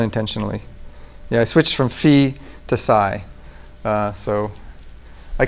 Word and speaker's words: phi: that was not intentionally yeah I switched from fee to SAI uh so I call this Fe because Fe is the original Greek pronunciation of Fe and fi is the Western European adulteration of the Cor